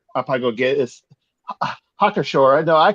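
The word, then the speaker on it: Hacker-Pschorr: Yeah, I think we're still saying it wrong. Yeah, I think I'm saying it. Yeah. Because their People pronunciation I think are a little bit more phonetic. Like a 4. I'll put it in the. It's hacker. It's a cracker.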